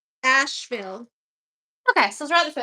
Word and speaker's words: Asheville: That's an Is it Asheville or Asherville? Asheville.